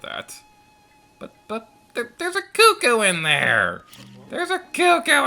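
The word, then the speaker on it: Cucco: comments but i know the official pronunciation is cuckoo i don't like that pronunciation so i'm going to keep calling them cuckoos all right uh where's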